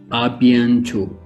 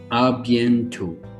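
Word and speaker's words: à bientôt: to say see you soon in french is a bientot arbiento for see you soon in arabic and if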